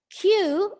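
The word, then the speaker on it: queue: When you remove UE, then it is still pronounced the word Q, the letter Q itself.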